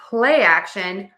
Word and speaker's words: play action: So to say play action, we are going to stress word one in this combination play. But don't forget, we also need syllable stress in word two because there are two syllables. So, we're going to stress a and this word.